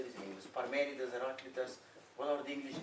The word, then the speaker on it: Parmenides: Parmenides, Heraclitus, what are the English names? Parmenides.